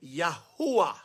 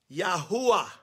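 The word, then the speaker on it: Yahuah: But when I'm referring to him, I want to refer to the Father by his actual name, Yahuwah. Yahuwah.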